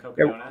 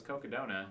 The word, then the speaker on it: Cocodona: So we just mashed them together, and what came out the other side was Cocodona, and it just kind of stuck, and here we are. Well, Yeah. it almost rhymes with Kogalla, Yep.